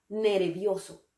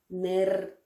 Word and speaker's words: nervioso: Nervioso. Nervioso. Tenemos que recordar que en español la V y la B suenan exactamente igual. No decimos nervioso, decimos nervioso.